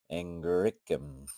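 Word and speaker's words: Angraecum: And I pronounce the S. Arium. Angricum. I was saying Angrium. Angricum.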